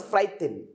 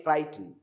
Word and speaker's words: frightened: to fight you don't frighten don't say frighten don't say frighten say frightened frighten frighten because there is no just this this e is silent frightening now frightened frightened